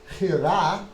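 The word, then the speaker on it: חירה: Now, Hira, if you want, is Hira on the accent. Hira, last syllable stressed.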